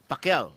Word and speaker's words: Pacquiao: Pacquiao, right? They'll Yeah. say Pacquiao or something like that. Yeah. It's Pacquiao.